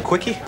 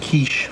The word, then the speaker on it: quiche: most jam-packed comedy on tv can have a quickie it's pronounced quiche it all starts at 7 6 central fox